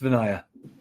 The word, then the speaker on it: Vinaya: Is it Vinaya or Vinaya? It's Vinaya.